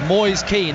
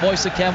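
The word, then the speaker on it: Moise Kean: Everton 27 million pounds boys keen that's how we say his name not moister cam we asked it before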